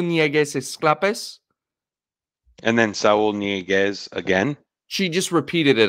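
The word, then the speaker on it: Ñíguez: Inieguez. Yes, nye, not it's an nye. That's the sound.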